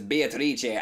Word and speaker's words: Beatrice: back on that pronunciation I keep hearing you pronounce it as Beatrice I swear whenever I first started I pronounced it that way ever since I heard kinzo pronounce it as be a tha I cannot pronounce another way I pronounce it that way when I'm trying to be over-the-top when I when I hear Beatrice I think what to twist and it just ruins it for me Oh oh my